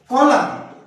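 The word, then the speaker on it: column: कॉलम, सुने हुए सब सारे वर्ड तुमने सुने हुए, लेकिन स्पेलिंग एम के बाद एन आया।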